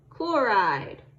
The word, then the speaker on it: chloride: So do we say chlorine-ide? No, we do not. We say chloride.